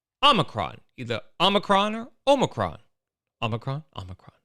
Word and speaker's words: omicron: watched the video a bunch of times it's pronounced omicron so allow me to show you this video